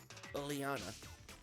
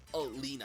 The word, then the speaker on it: Oleana: Oleana. Or Olina. I think that's how they pronounce her name in the anime. Because they did the 2 episodes of Twilight Wings already, and she appeared in one of them, and I think they pronounced her name as Olina.